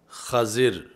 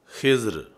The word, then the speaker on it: خضر: مجھے بھی سکھائیں۔ تو یہ لفظ خضر فتح خا کے ساتھ اور کسرہ ضاد کے ساتھ، اور ایسے ہی خضر یعنی دوسرا اس کا تلفظ خضر ہے، خضر اور خضر، یہ آپ کا لقب